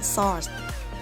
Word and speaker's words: sword: อ ก เ สี ย ง ว่ า sword ใ ช่ ไ ห ม ค ะ แ